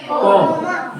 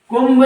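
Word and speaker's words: comb: इसको पढ़ा जाता है कोम। क्या पढ़ा जाता है? कुंभ नहीं पढ़ना है, ब नहीं पढ़ना है, ब का साउंड नहीं आएगा। समझ में आया? क्या पढ़ना है? कोम।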